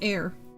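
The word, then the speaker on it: Eyre: Um, pronounced air.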